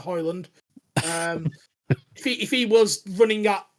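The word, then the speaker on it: Højlund: If Hodgland or Hoyland, we've still not really decided as a podcast how we're pronouncing his name, but we're going to go with Hoyland.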